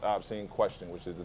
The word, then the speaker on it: AHBSEENKWESTION: On Instagram, you can find me at AHBSEENKWESTION, pronounced Obscene Question, which is the name of my rap group from long back.